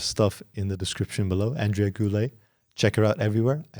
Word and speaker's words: Andrea Goulet: Andrea Goulet. Check her out everywhere. I hope I pronounced your name correctly.